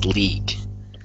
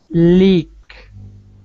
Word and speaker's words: league: Watch my mouth when I pronounce this word. League. Leak. There you go. Leak. It sounds like you're saying leak. Leak. Ah, okay. Leak. No, sorry. No. The leak is bad. Don't say the leak.